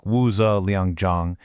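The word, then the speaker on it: 五子良将: He was named one of the Wuzi Lengjiang, which is pronounced kind of like Wuzi Liangjiang, and it means the 5 elite generals of Wei.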